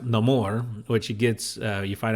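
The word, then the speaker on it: Namor: and so they're very Neymar is very upset and you learn well it's pronounced no more which he gets you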